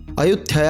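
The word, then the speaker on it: อยุธยา: अयोध्या साम्राज्य स्थापित हुआ अयोध्या का थाई भाषा में उच्चारण अयथ होता है इसलिए अब इसे अयोध्या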